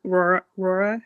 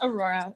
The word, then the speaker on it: Aurora: I think Serafina was trying to go, and then if Rora, if I'm pronouncing that correctly. Yeah, it's just Aurora.